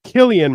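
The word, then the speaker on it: Cillian: bman listen if it's if he wanted it to be Killian Murphy he would spell it with a K but he comes from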